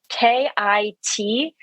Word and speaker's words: khichdi: There are also a couple different ways of pronouncing it. Some people pronounce it khichdi. And so I think the most common way you're going to find it spelled on the internet is Kitchari.